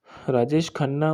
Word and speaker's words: राजेश खन्ना: थे राजेश खाना के बारे में राजेश खन्ना राजेश खन्ना उच्चारण जीने जतिन खन्ना का के नाम से जतिन